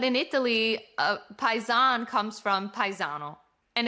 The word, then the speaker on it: paesano: It's paesano. And in English, or our Italian American culture, we'll say hey, paisan, what's up? Like a hey, buddy, what's up? But in Italy, paisan comes from paesano.